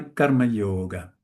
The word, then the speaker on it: karma yoga: altar of Iswara by karma yoga. Karma yoga I also stress this first part because when two conssonants